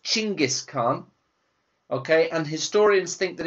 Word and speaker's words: Genghis Khan: In Mongolian, it's pronounced Chinggis Khan, okay, and historians think that it comes from the Mongolian word for wolf, which is Chin. But in English today, we say Genghis Khan.